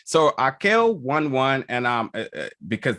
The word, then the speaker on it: Raquel: director of the film haka one one all right all right so akel won one and um because that's that's the correct um a portuguese way to pronounce that correct yeah i can